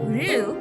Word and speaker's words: Ryu: However, even though I know it's pronounced Ru, like most Westerners, the name is difficult to pronounce. So I may accidentally refer to him as Ryu.